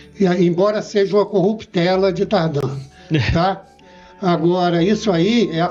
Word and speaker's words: Tardin: grafia normal né e como é de origem franco-suíço a pronúncia correta é tardan essa é a pronúncia correta e agora eu fui criado e desde criança eu ouço tardé tardé tardé eh depois